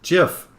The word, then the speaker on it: GIF: see even fox says jiff is a soft g j jiffy uh sad